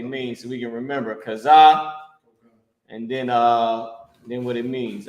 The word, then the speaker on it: chazah: So chazah, right? Cha, za, and ha connected. Cha, za, and you have the character ha. Chazah. This is how you pronounce it.